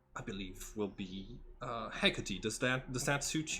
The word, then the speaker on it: Hecate: what he said huh she said Hecate he didn't say Haggerty oh hey hey Katie is like uh I think that's how you pronounce the name uh uh old uh